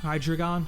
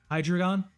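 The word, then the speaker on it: Hydreigon: The dre is pronounced like the number three in German. Hydragon. Hydrogon makes sense.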